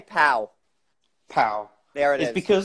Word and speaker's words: Paola: Just say Pow.